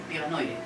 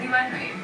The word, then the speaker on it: Diva Noire: Como lo leen, lo pronuncian, entonces... Bueno, algunos entendidos, ¿no? Que ya saben que llevamos entendidos. Entonces ya ellos no lo dicen como es. Pero en verdad, lo estamos manejando así, como divanoide, así.